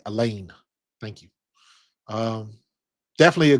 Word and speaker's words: Elaine: I like a lane rhymes with a plane.